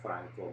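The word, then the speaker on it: Phrencko: i'm going to misspell it's sounds like franco but it's spelled p h r e n c k o and uh so that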